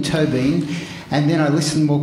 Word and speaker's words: Tóibín: and he said well it's toe as in toe and bean as in Bean to Bean and then I listened